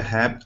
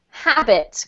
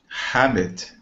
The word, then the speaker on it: habit: Harry had a habit of helping hitchhikers who hated horses. Beautiful. This is habit, Carlos. Habit. Good. So you need to really emphasize those two syllables, not habit, okay?